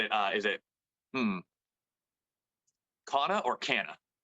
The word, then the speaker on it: Cana: is it hmm or canna it's canna most people um say it as a cana cana yeah that's always the